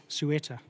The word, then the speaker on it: Ceuta: How do you pronounce the horse's name? Ceuta.